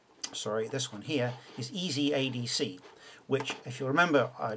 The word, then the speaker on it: ezadc~: here is easy sorry this one here is easy ADC which if you remember uh DAC stands for